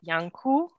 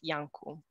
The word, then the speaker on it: Iancu: from romania uh so my last name is pronounced yanku so the first letter it's a it's an i it's not an l i know typically people think it's an l but it's an i so you pronounce it yanku like with and why